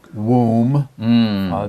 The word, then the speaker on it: womb: as when it was in the womb, W-O-M-B, B 不发音的 W-O-M-B, womb.